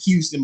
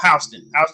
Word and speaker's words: Houston: Do you know, like here, like down south, we got it's spelled Houston, but it's called Houston County. But if you come down there saying we're in Houston, Georgia, no, it's just Houston County.